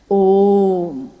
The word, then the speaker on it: ओम: दी जो प्रकट हुई उस ध्वनि की आवाज थी अ उ म अगर एक साथ सुना जाए उसको तो उसकी आवाज गूंजती हुई ऐसी है जैसे हम बोलते हैं या उच्चारण करते हैं तो हम कहते हैं ओम है वो अ उ म